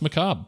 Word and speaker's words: macabre: wow, yeah, I did not know how to pronounce macabre. Yeah, it's macabre, everybody.